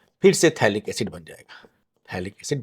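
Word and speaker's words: phthalic: यह है थैलिक acid. P silent है इसका।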